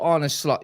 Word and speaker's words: Arne Slot: Mons, you got Arne Slot, yeah?